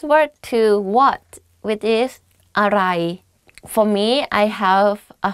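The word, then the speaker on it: อะไร: But don't confuse this word to what, which is aray. For me, I have a foreigner friend, and I always ask him to pronounce this this sentence, which is everything is delicious.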